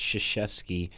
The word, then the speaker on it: Krzyzewski: It's the fact that it's pronounced Krzyzewski and it's like KRZ.